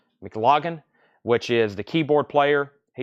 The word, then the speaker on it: McLaughlin: It says Ian McLaughlin. I think that's how you say his name. I don't think it's Lagan. McLaughlin, which is the keyboard player.